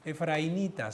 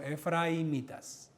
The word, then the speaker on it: efraimitas: Y los de Efraimraitas, por si acaso, no se dice efrainitas, sino efraimitas.